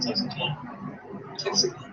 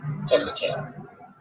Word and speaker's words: Texarkana: But that's how you say it, Texarkana. Texarkana. Like Texarkana.